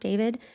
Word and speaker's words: D4VD: David Anthony Burke, known professionally as D4VD, pronounced David, is a singer-songwriter who became famous in his late teen years.